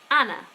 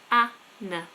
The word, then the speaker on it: Anna: a an N A Anna that's how you spell it and you pronounce it Anna Anna I have many lessons